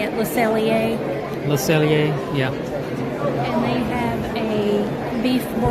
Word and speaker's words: Le Cellier: Le Cellier, yeah.